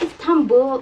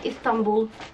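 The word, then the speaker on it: İstanbul: It's Istanbul in English and then Istanbul in Turkish.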